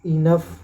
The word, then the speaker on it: enough: उसके बाद जहाँ पे OUGH आता है वहाँ पे उसका उच्चारण ऑफ से होता है, ऑफ। जैसे कफ, CAUGH कफ, ENOUGH इनफ, ROUGH रफ।